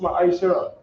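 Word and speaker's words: מעשר: Means tenth in Hebrew, and it's pronounced Ma'aishara.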